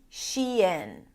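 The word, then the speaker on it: Shein: The first one is the women's clothing brand sheen. Sheen, which is basically a combination of two words, she and in.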